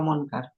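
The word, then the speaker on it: منكر: Nah, bukan alfaidu wujubul inkaril munkiri wajib meng munkir atau munkar? Munkar. Inkaril mkar munkar. Kalau munkir itu yang mengingkari. Munkari, Ustaz. Iya. Kalau di sini munkar sesuatu yang diingkari bukan munkir.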